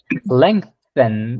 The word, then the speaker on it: lengthen: this word Claudia Leng lengthen yeah remember that the th is like that them lengthen lengthen yeah lengthen